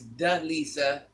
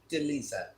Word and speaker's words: Delisa: pronounce my name right is D Lisa say fast is Delisa oh you you don't